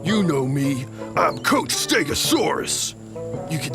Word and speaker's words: Stegosaurus: I'm Coach Stegosaurus. You can say my name. Stegosaurus! Stegosaurus! Stegosaurus!